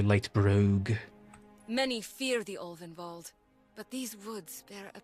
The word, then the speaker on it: Ulvenwald: Many fear the Ulvenwald, but these woods bear a peculiar beauty. At least I said Ulvenwald correctly.